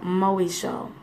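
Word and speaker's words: μοιχεία: The Greek word for adultery is called moesho. Okay? Moesho. Do not ask me how to spell it.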